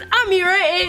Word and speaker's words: Ameerah: And also, if you are new here, my name is Ameerah. It rhymes with Shakira, and you should definitely subscribe.